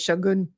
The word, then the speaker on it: Shōgun: Like, the proper way to say Shogun apparently is Shōgun.